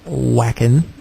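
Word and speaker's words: Wacken: the Dead live at whackin is am I saying that correct correct w a c k n I think it's like pronounced V Von yeah it's German yeah I'm sure that was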